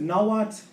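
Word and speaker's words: Nahuatl: Um just to note I pronounce it nalat based on the language I do work in.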